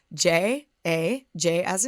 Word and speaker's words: Jaja: Ja PDX is spelled j a j as in Joseph J A ja like haha but Jaja PDX so I'm a